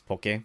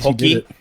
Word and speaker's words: poke: a lot of kudos he pronounces it right it's poke yeah he's pokey because some people right no so really like pokemon right yeah yeah what's like